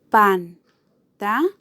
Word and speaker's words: pantalón: Pantalón. Pantalón. ¿Dónde lleva el acento esta palabra? Claramente en la última sílaba.